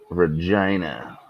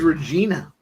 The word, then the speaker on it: Regina: Regina. I thought it was Regina my whole life. It rhymes with fun.